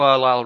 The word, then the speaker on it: Arlyle: You know Arlyle rhymes with Nile, right?